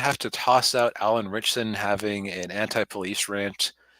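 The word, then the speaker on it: Ritchson: uh and Allan uh richon rickon richson I think is how you pronounce his name um Jack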